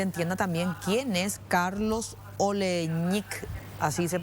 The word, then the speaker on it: Oleñik: que la gente entienda también Quién es Carlos oleich así se pronuncia que en algún momento fue detenido creo